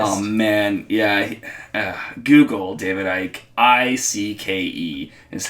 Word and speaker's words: Icke: Google David Icke. Icke is how you spell Icke. Is that Ike or Ick? Everywhere I look to pronounce it Ike.